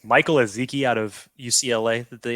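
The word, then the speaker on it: Ezeike: It's pronounced Ezeki. I'm assuming it's Michael Ezeki out of UCLA that they ended up selecting.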